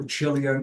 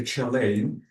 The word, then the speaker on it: Chilean: So Chilean or I can say Chileain is really correct.